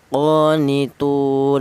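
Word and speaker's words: قانتون: Kemudian qonitun di sini ada tu yaitu yaitu ada wau mati di mana wau mati ini didali huruf yang berharakat dhammah ini dibaca mad tha thobi'i juga tetapi ini berupa huruf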